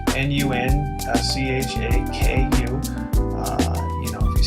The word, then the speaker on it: nunchaku: things the correct term for them is actually nunchaku n-u-n c-h-a-k-u uh you know if you speak japanese i'm